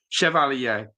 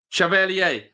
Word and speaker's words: Chevalier: It's Chev ali Chev ala phonetically. That's how it's pronounced. Jeezy comments. Chev alier. Chevalier.